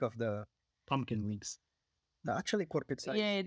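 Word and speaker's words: kurpitsa: So excuse me for pronouncing it. Pizza. Kurpizza Pizza viikko. viikko. Yeah, The week of the pumpkin weeks. actually Korpitsa Yeah, is it's more like squash yeah, in general.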